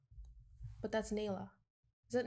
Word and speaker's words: Nila: It's kind of like The Lion King, but that's Nila. Is it Nila?